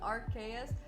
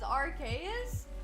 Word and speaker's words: Arceus: pronouncing AR's name as Aros it can go either way like it's confirmed to have been said in both ways cuz like in the movie It's pronounced as archaus but if you watch